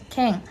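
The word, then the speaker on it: 見: Ken. So des, kennya itu miru des. Jadi kalau kanji miru itu ya dibacanya ken.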